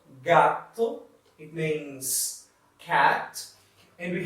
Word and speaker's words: gato: We can pronounce like in G, G-A and G-O. Gato, gato, it means cat.